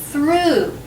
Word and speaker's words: through: pronounced that's right it's through o u g h can also be pronounced ooh and then the last